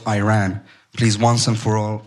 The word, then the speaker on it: Iran: to the provocative question you're pronouncing our country's name wrong our country is named Iran not Iran please once and for